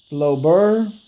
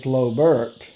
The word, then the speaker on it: Flobert: the name of this rifle is called a flo bur by some people called flo burr but i call it a flo bert because that's kind of